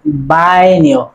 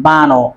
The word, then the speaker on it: Baño: This letter name is Anie, and this word will be pronounced like Baño, not Bano.